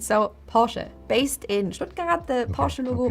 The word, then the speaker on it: Porsche: I know the followed by an e is very difficult to pronounce. It's a very short e sound. So Porsche based in the Porsche